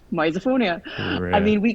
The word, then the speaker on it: misophonia: pronounced Mia and I've told everyone that it's pronounced misophonia I mean we call we just call it